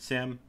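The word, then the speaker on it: SIEM: of things and the Sim is security information and event management and we just pronounce it Sim this is a system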